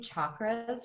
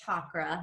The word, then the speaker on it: chakra: It is pronounced chakra, not chakra. That is how white people in this country pronounce it. It is chakra.